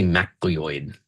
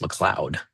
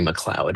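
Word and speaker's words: MacLeod: Um I used to say Muoid but I had someone who was in class one time a student who was from Scotland and he said that that's pronounced Mloud Avery Mloud at McCarti.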